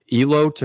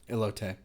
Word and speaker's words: elote: me on the pronunciation El OT or elot sweet corn quesadilla red Bliss potato perogi elote elote wow I was off I really uh Americanized that sorry so this is